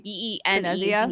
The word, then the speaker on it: Benezia: It's with the matriarch Ben, I don't know how to say her name, Benezia.